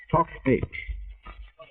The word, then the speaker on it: Toc H: Talbot House soon became known to the Tommies of the First War by the initials, pronounced in the language of the army signallers of the time, Tock H.